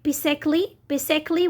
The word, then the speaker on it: basically: We have also silent letter a in some words. Okay, as in basically we don't pronounce the sound a.